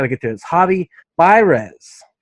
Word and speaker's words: Baires: get to his hobby by rez i said it right for the first time thank you for not attempting to roll the yard yes i always say bears i say bears i say everything wrong